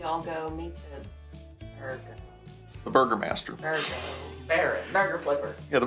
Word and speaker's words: Burgomaster: It is burger like a hamburger and master.